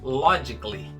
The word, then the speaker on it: logically: Essa palavra que significa logicamente não tem essa letra A pronunciada. A pronúncia correta é logically, logically, como se esse A não existisse.